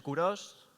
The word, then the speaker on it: Kurosh: Yo soy Kuros. Sé que Kuros es un nombre un poco particular, pero ya veis que se pronuncia literalmente como se lee, así que nadie se preocupe por eso.